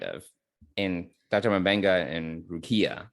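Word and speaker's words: Rukiya: Mbenga and Rukia, right? That's how you say her name? Is that right? Right, Rukia, yeah.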